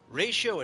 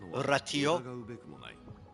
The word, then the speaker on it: Ratio: Ratio in English, but his full name is like a Latin phrase. So, I'm pretty sure his name should be pronounced Ratio, right? Cuz his name is um Veritas Ratio, but English they just say Veritus ratio.